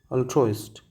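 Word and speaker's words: altruist: Next one इज़ ऑल्ट्रोइस्ट। ऑल्ट्रोइस्ट। ऑल्ट्रोइस्ट means what? मैं लिख दूं ना इसको प्रोनाउंसिएशन कैसे करते हैं? अल ट्रोस्ट अल्ट्रोइस्ट यानी कि जो एक तरह से लवर ऑफ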